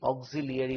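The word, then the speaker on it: auxiliary: আমরা ছোটবেলাতে কি বলি? অক্সিলারি verb. উচ্চারণ কি করবো? অক্সিলারি। বানানে কি লিখবো? LARY। উচ্চারণটা অরিজিনাল কি? অক্সিলিয়ারি verb, অক্সিলিয়ারি verb.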